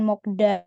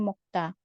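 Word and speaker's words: 먹다: mokta artinya makan Nah di sini bacanya seperti mokta mokta Jadi bukan mokda tapi mokta kemudian ada Masita Masita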